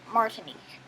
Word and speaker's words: Martinique: Okay, that's how you pronounce it. Martinique.